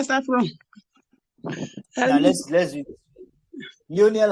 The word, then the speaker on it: Lionel: Lionel has just 2 syllables. Okay. Leo, then Nell. Leo, then Nell. Leo, then we have Nell.